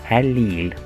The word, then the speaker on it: allele: which one do have scientists describe the recipe of genetic information for each form as allele pronounce it a allele we can describe the Straits